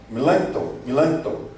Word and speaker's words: Melanchthon: Foi a Loci Communis, de Melanchthon, na verdade se pronuncia.